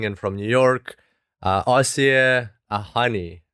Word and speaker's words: Asieh Ahani: from new york uh aussie a honey i hope i pronounced your name correctly welcome to the show i'll see you thank you very much yes it was correct awesome fantastic well excited